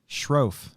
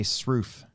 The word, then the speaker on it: Shroff: and here's the thing i've been mispronouncing shroff since i've met them janet oh yeah jen and uh scott i would say sroof and nobody nobody told me anything until saturday where it's shroff they must get it